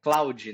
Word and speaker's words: Claude: Talvez você conheça o chat GPT, mas talvez você não conheça o Claude, que é Cloud, né? Que se escreve Claude.